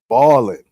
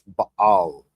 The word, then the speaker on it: Baal: pronunciation of this name, because people always saying bow, ball, all this shit, right? But it's Baal. Ba. That's why it's an apostrophe in the middle.